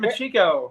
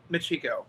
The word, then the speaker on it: Machico: Yeah, we're at Machico right now. I never know how to say the name. Macho. It's Machico.